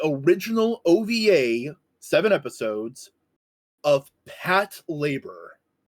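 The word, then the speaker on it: Patlabor: Uh it is also often called Pat Labore. Pat I have always called it Pat Labore. I know the proper way to pronounce it is pat labor because it's short for patrol labor because the mechs in the show are called labors.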